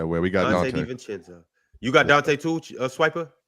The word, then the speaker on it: DiVincenzo: It's not pronounced Senzo. It's pronounced Chenzo. DiVincenzo.